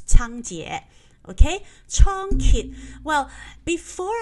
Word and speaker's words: Cangjie: method so tongkit and in english you will see c-a-n-g-j-i-e that is like the uh mandarin pronunciation which is chang jie okay chon ki well